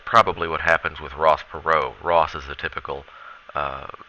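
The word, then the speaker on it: Perot: someone named H Ross perau it's a French name that's why we don't pronounce the t uh so H Ross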